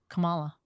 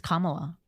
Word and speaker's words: Kamala: So I just learned how to say Kamala. I think it's Kamala. I think I'm actually saying it wrong. Kamala. Well, here's what I'm. Kamala, Kamani. No, it's like Kama.